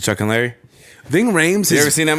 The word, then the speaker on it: Ving Rhames: ] right there that's some Ving Rhymes and then he was in uh Chuck and Larry and now pronouncing Chuck and Larry Ving Rhames have you ever seen that movie no but